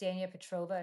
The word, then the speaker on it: Petrova: It's Petrova. It's KS n I a first name. It's not um it's spelled kind of strangely.